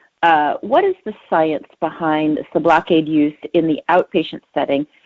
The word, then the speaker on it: Sublocade: Sorry, I probably mispronounced it. Sublocade.